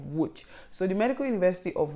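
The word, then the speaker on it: Łódź: today is the medical university of wut but in polish that is pronounced as medical university of wooch so the medical university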